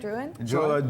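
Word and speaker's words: Drouhin: say the next one how do you say it again drwan Joseph Duwan with the Duwan Estates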